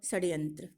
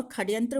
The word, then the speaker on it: षड्यंत्र: यहाँ मूर्धन्य स को कुछ लोग ख का भी उच्चारण करते हैं और खड्यंत्र बोलते हैं, कुछ षड्यंत्र बोलते हैं। तो ये दोनों ही सही है, उच्चारण दोनों ही किया जाता है, लेकिन यहाँ जो सही ऑप्शन है वो है षड्यंत्र। यहाँ ड आधा होता है, यानी कि इसमें से स्वर का लोप होता है।